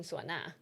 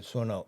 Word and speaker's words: suona: And we end up using suona for Right, wait, wait, what scene are you talking about the beginning of that scene?